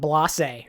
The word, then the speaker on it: Blase: next no we got blase blase not boss a blase it's like with a zero and ever it's got like an accent I always I always mispronounce his name blase I thought he showed